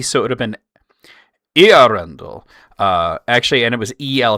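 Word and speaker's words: Eärendil: And the reason is the 2 dots on the A are just telling you that the E and the A are their own syllables.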